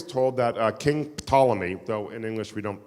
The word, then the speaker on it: Ptolemy: name he would say p is in psychiatrist so we're going to call them King tall I mean we'll just swallow the pig King Ptolemy wanted to translate the